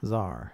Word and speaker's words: Tsar: Is that Tsar? Tsar. Yeah. Yeah. That's how you say it in English.